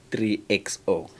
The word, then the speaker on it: 3XO: today the new Mahindra how do you even pronounce that uh model designation it's the Mahindra 3xo 3xo yes it replaces the uh XV 300